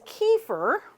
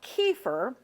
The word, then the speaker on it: kefir: one nice thing about kefir and I I know that I'm probably pronouncing it the American way I think it's supposed to be kefar or something like that but we Americans we